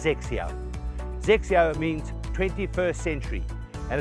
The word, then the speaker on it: XXIO: something unique called xixia X x10 but it's pronounced sexier xixia means 21st century and it's a golf